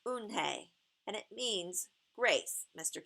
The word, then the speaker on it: Unhei: Yes, it's pronounced Unhei, and it means grace, Mr.